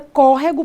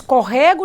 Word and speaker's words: córrego: tônica Já a palavra córrego por sua vez que tem três sílabas tem uma forcinha na antepenúltima sílaba nós não dizemos Corrego Nem córregou nós dizemos Córrego então quando eu tenho